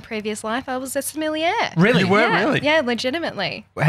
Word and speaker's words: sommelier: Sommelier. Sommelier.